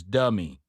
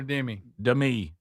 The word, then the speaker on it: Demi: She says, "Remember the way to predict uh to say my name is Dei." Dei Dei Moore. Dei. Du H. M. I always called her Demi.